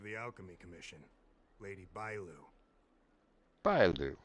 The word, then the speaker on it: Bailu: Bailu. Okay, that's her. That's how you pronounce her name.